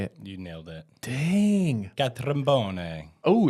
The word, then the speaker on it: Catrambone: Catrambone. Oh, it's Italian. Yeah, Catrambone.